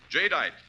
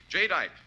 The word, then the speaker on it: jadeite: Remember the name Jite. That's spelled J A D E I T E. Jite, the newest triumph of anchor hawking.